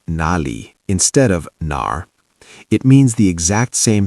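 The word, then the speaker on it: 哪儿: In Chinese, we say nar. Third tone, dip down and up, nar. It has that R pirate sound at the end, nar.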